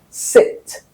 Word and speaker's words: sit: The sound for the action which is supposed to be a short sound it is replaced by a long sound e which is a sound you have in seat the chair itself.